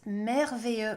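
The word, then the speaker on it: merveilleux: weather was amazing but please remember it's mervier with the letter e this is why it's in the lineup today because in my conversation Cafe and the people I'm teaching for some reason the English brain kicks in and people love saying Mario it's so you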